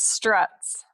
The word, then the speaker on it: Struts: It's Struts. It is. I don't ever put the T in there, and I probably sound like a ding dong to her.